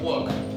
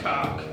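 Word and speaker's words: Quoc: Hi, my name's Wook. It's spelled Q-U-O-C, so everyone calls me Cock.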